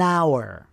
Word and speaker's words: hour: object you an umbrella and silent h an hour one day um office worker was thinking what